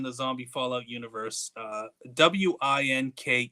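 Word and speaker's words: Winke: I uh There's a character somewhere in the Zombie Fallout universe uh w i n k e is name. I I it in my head, this guy's name is Wink. You know, um, that's, you know, not a common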